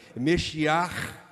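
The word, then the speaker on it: משיח: sua fé no Messias, em hebraico o Meshiach, Meshiach, Meshiach, Meshiach. Tava ouvindo hoje de manhã como é que pronuncia em em hebraico, né? Meshiach, né? É o Messias.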